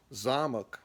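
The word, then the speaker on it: замок: Zamok, the O in there actually sounds like a second softer or maybe a reduced A, zamok and zamok.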